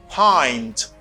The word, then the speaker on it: pint: And then this is pronounced as, can you guess this? Est-ce que vous pouvez imaginer ça? This is, no, it's not pint. It's pint. Pint. You say pint.